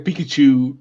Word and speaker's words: Pikachu: Well, how do you say pizzeria? What are you talking about? Say What? pizzeria. Say pizzeria. Pizzeria. Okay, now say Pikachu. Pikachu. Okay, that's how you say Pikachu.